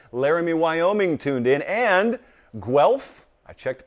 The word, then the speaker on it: Guelph: And Guelph, I checked the pronunciation, that's in Ontario, Canada.